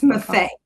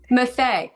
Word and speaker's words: Maffei: It's Maffei, Maffei. I'm sorry. like buffet, but with an X.